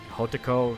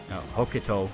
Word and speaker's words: Hokuto: artists, specifically of the Hotoko school. No, Hokuto school. I said Hotoko. It's the opposite.